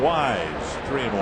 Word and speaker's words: Wise: And Dwayne Weise acknowledged, but the president mispronounced his last name. Called him Dwayne Weiss. Two and one to Dwayne Wise.